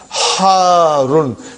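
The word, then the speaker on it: حارّ: Al-labanu, al-labanu, harun. Harun. Because the shadda is on ra. So you got to pronounce it properly. Harun.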